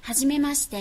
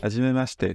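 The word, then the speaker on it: はじめまして: Hajimemashite. Hajimemashite, c'est pas hajimemashite, hajimemashite, c'est très dur à dire, hajimemashite, hajimemashite. C'est beaucoup plus naturel.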